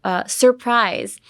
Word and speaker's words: surprise: So, surprise. Surprise, I think I've already taught you guys a couple times, but I know the R sound is very hard. Surprise. Surprise. There's two R's right next to each other.